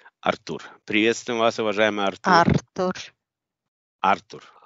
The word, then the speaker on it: Артур: Артур, на А ударение, понял, Артур.